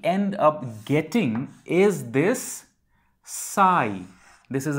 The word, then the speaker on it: psi: And if we solve this equation, what we end up getting is this psi. This is a Greek symbol pronounced as PSI, psi, which is a function